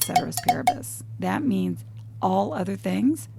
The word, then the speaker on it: ceteris paribus: That's called ceteris paribus.